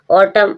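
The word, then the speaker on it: autumn: ऑटम, ऑटम means पतझड़, वही एम के बाद एन, साइलेंट है।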